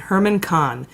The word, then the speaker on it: Herman Kahn: a Russian oligarch named Herman Kahn which is spelled like German Cohn but it's Herman Kahn who runs alpha bank